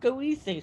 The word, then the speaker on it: Goethe: Goethe is the name of the poet, but the street is Goethe. Oh. Yeah, but was it named after Goethe? I mean, it's interesting. I mean, possibly, but it is pronounced. It's whoever it was named after. It's pronounced Goethe Street.